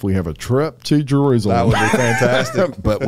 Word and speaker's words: Jerusalem: I used to say Jerusalism. No, Jerusalem.